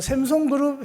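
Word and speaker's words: Samsung: 샘송그룹 회장보다 더 큰 분이 하나님이신 줄 알면 그 샘송그룹 회장의 그 S사를 외국에는 샘송이라고 읽는다 하더라고요. 그래서 제가 외국 발음으로 한 겁니다. 샘송. 그 샘송그룹 회장 아들은 아니더라도 그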